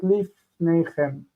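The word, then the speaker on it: לִפְנֵיכֶם: have a problem because chem is what we call a heavy ending. The accent's over here. Then we have this reduced because it's distant syllables. So this is pnechem, and then we have two shvas in line, so we change one to chirek, and we get lifnechem.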